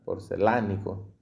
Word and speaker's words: porcelánico: En el caso de los pegantes para porcelanato, ya vamos terminando ya, porcelánico, y el acento en la A.